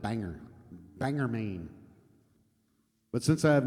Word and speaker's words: Bangor: I always wondered if it was Bangor or Bangor, but I think it's Bang. I think he pronounces it Bangor.